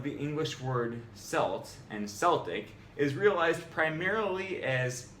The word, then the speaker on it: Celtic: It turns out we've all been calling the Boston Celtics by the wrong name. Incorrect. Celtic. Correct.